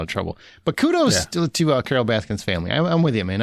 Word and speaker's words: Baskin: It's not Carol Baskins. It's Carol Baskins, that bitch. I refuse to jump in there. Look, I'm pretty sure it's Carol Baskin. It's not Baskins.